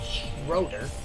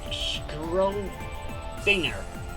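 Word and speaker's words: Schrödinger: Oh, it's pronounced I'm sorry, it's not pronounced Schroeder. It's pronounced as Schrodinger.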